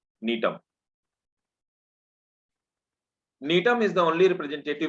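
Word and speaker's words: Gnetum: G is silent. Nitum.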